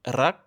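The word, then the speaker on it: รัก: c'est un Roulé avec la pointe de la langue comme en espagnol ou en italien. Si vous avez du mal, bonne nouvelle, c'est complètement optionnel. Vous pouvez aussi le prononcer comme un L.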